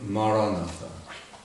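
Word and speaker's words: Maranatha: say our word word the word I would recommend is the word Marana four syllables ma ra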